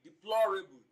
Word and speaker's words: deplorable: Option B, deplorable. Now when you look at deplorable, the stress also falls on the second syllable from the beginning of the word and the third syllable from the end of the word.